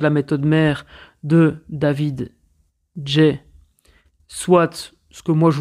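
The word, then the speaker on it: Gay: Donc, David Jay, ça s'écrit G-A-Y.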